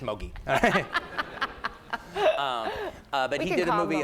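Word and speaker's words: Moguy: And I thought it was Mogwai, and then Pierre Ricci, no, it's just Mogi.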